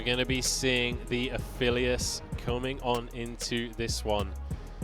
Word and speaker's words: Aphelios: You can be very aggressive, and Aphelios, fantastic. Or Aphelios, I think, is the correct pronunciation. I keep saying it wrong, I think, but I'm excited to see that because he's got a lot of follow.